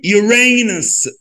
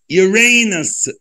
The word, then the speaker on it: Uranus: وننطقها بقى Saturn, Saturn. يلا بينا, فضل عبد الرحمن. Uranus, U Uray, Ray, R A, Nus, زي بس, N U S, Uranus, Uranus.